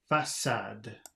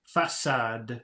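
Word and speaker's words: façade: the bottom two okay notice that the C is pronounced like an s look and listen and imitate Faso facade three letter C without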